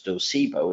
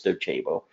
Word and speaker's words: Docebo: Some people pronounce them as Docebo. It's Docebo.